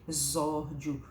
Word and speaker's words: exórdio: o nome esquisitinho e ela pronuncia se sim exórdio com som de z e o final que